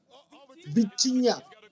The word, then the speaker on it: Vitinha: Vitinha.